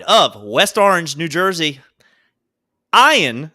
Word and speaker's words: Ian: West Orange New Jersey ion Ziering who should be Ian because that's what it's spelled broke out playing Steve